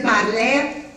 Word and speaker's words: parler: ER suena como E, boca abierta. E, por ejemplo, vamos a encontrar mucho en los verbos. No van a decir parler, sino parler.